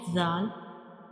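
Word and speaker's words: ذال: When we pronounce zal, you make sure whistle sound does not come, because this is a soft letter and we read it softly like zal, zal.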